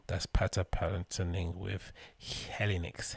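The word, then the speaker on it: Helinox: pata palin singing with helinics hello knox how you pronounce it helly knox right h-e-l-i-n-o-x for a packable chair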